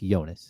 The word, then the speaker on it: Jonas: a s yep yonas like Jonas but only it's pronounced yonas right the yonas brothers